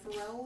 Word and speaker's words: Pharrell: It was probably his idea, Pharrell, is that how you say it?